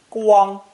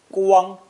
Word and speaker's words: 光: This character is pronounced first tone, 光, 光, and today means glory, honor, and brightness in general.